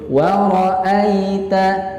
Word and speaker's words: wara'aita: Ya, jadi jangan dibaca wara'ai ya, jangan seperti itu, tapi dibaca dengan lembut saja karena ikhraju harfi bisyughulah itu perintahnya. Membacanya dengan bacaan yang lembut. Wara'aita ya, seperti itu.